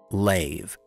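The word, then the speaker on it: לב: The Hebrew word for heart is lave. That's right, it's pronounced lave.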